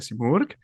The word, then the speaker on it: Simurg: does a divulgación project called Las Plumas de Simurg. Oh, you pronounce it perfectly, Thank you.